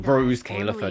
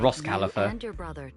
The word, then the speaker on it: Rose Kalifer: Therefore, on behalf of the Rose Kalifer External Strategy Department, to get better at saying Rose Kalifer, not Ross Kalifer. I just read it how it's spelled. It's Rose Kalifer.